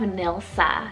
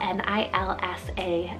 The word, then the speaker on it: Nilsa: it's german rooted meaning alluring then we have nilsa spell n-i-l-s-a nilsa and this one's swedish danish and nordic